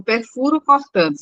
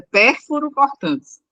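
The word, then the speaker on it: pérfuro-cortantes: Aí você falou perfuro cortantes, é pérfuro cortantes, certo? É só na Perfeito. pronúncia. Pérfuro Certo. cortante, só na pronúncia.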